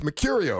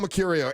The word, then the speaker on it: Mecurio: It's Mecurio, right? Yeah, there you go. Paul Mecurio.